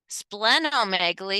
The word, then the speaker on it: splenomegaly: that collection of fluids we we pronounce spleen two e has that hard E versus that splenomegaly and splenectomy has that more soft e because there's only one e to it pronunciation so so let's